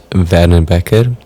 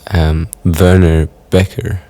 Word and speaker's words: Werner Bekker: My name is Werner Bekker. That's a very Afrikaans way of pronouncing it. If you're from abroad, I guess Werner Bekker is an easier way of hearing the name and saying it, possibly.